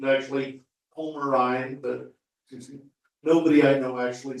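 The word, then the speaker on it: Pomarine: Okay, this pot-bellied guy is a Pomeranian Jaeger. I've been told the correct pronunciation is actually Pomerine, but nobody I know actually says that.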